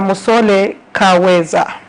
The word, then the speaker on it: Musole Kaweza: Musole Kaweza. I don't know if I pronounced the name correctly. Yes, you pronounced it correctly.